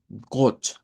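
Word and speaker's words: Gott: De ahí diríamos got. Y esta palabra es bien importante porque es la palabra para decir Dios en alemán. Got.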